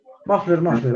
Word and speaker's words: muffler: Muffler. A ver, ¿qué creen que sea muffler? Muffler se escribe, se lee muffler como una A.